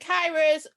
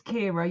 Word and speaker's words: Kira: So how do you pronounce it? It's Kira.